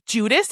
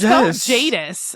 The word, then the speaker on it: Jadis: hear about is it I thought was Judas. Isn't that what we had been saying this whole time? Juno. Juno. We've been saying it wrong cuz it was like Jadis or something. Yeah, it's Jadis.